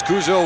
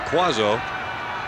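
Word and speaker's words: Cuozzo: Chris Kuzo wears number 27, spells his name C-U-O-Z-Z-O. Does not pronounce it like the old Minnesota Viking quarterback Gary Quazzo, Baltimore Colt quarterback.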